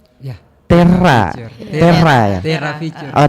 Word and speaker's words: Terra: Gimana sih bacanya? Ya. Terra.